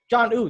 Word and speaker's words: Jonnu: Jonnu Smith. John. Okay, you gotta say John and then new. Got you. Jonnu Smith. John Ooh.